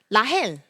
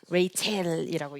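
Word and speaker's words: רחל: 뭐 어떻게 읽으라고 준 거예요, 원래는? 라헬이라고 읽는 거죠. 근데 이것이 영어적으로 가서 어떻게 읽혀요? 레이첼이라고 읽히죠. 네, 라헬, 레이첼이라고 읽힙니다.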